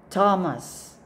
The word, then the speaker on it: Thomas: water water next word read the word is Thomas Thomas so it's silent h next word say it